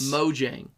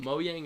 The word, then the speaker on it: Mojang: um so Minecraft yes Mojang how do you pronounce it Sam moang oh that's cute I like it moyang is cute like a like a flare yeah Mo Jang unfortunately the Jay makes a sound unfortunately un um mojing